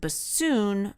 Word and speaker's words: bassoon: However, I would like to remind you that bassoon rhymes with buffoon."